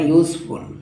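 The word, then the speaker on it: useful: ওই আবারও দেখো ইউজফুল, এটা একবারে কিন্তু উচ্চারণ করে জানে ইউজফুল। হ্যাঁ, এটা মুখের আকৃতি দুবার পরিবর্তন হয়, ইউজফুল।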